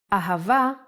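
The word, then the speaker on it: אהבה: down a pronounced ha remember the sound here is V so we don't need a DOT of bet pronounce a let's do it once more in handwriting aava aha isn't it a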